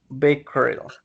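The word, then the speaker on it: Becquerel: germans physics is robten and the french physicists bakery in its correct pronunciation in july 1898 the greece announced the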